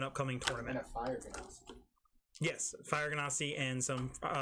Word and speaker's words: Genasi: Ganassi? Genasi. Genasi. How do I say it? You say it, Can't say. You say it Phonetically?